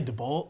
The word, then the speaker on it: DeBolt: pronounce your last name I say DeBolt but my dad says the proper way is debo oh ok Tom got